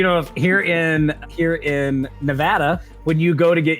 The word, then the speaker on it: Nevada: every DMV, it says, "Real Neadans pronounce it Nevada. If you say Nevada, get out."